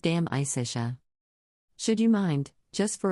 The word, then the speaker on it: De Amicitia: We finished Livy and De Senectute and are now engaged with De Amicitia, pronounced dam-i-cish-a.